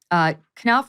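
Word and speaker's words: Knauf: Sydney for the Invictus Games, Jason, is it Knopf? Is that how you pronounce his name? Knopf, yeah.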